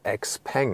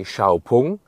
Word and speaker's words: 小鵬: that the lettering of x-pang on the outside and so on and the name like the pronunciation xpang is just used internationally inside China they say xiaopung and they just use